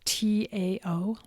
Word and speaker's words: Tao: the tao of death and tao is spelled t-a-o it's pronounced doubt the tao of death the secret to a